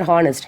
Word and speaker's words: honest: What is spelling for honest? HONEST, honest, is it no? But here we are not pronouncing, H is silent.